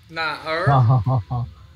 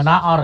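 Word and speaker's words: 哪儿: Nar. Ya. Nar. Nar. Nali. Nali, ya oke. Okay. Bukan naor ya, nar. Nar. Tulisannya naor, tapi bacanya nali. Nali, oh. Atau nar, oke.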